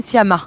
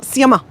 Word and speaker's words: Sciamma: How do you pronounce her last name? Céline Sciamma. Sciamma.